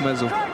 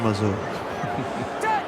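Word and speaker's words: Masoe: Il y a beaucoup de techniques là quand on voit George Smith, Chris Mazo, Emmons, Vous ne prononcez Bastaro. pas le E, vous dites Mazo. Chris Mazo.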